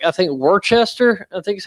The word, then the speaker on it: Worcester: It's called you you pronounce it Worcester.